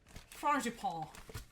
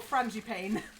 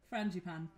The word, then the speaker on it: frangipane: i pronounce it wrong frangipan is that right or wrong is it is it something is it something like fragipal or something like that or frangipane oh i'm right friend japan okay um where's my